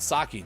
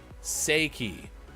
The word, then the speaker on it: sake: Sake, Japanese, pronounced sake or seiki if you're an uncultured American.